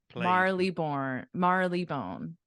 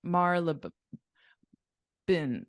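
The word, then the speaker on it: Marylebone: that's true all right Marley bone not not far actually not far yeah so it's it's Malibu malaban Marla Marla bin bin I I would say bone but some people people say yeah it's okay it's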